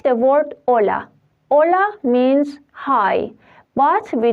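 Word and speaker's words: hola: after or before for that like the word Ola Ola means high but we don't pronounce a we read it from o h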